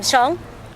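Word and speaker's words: Xiong: you good afternoon my name is um Shong and it's spelled m a o l e e x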